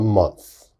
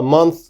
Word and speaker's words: month: and of course a month okay so a month a little bit difficult to pronounce a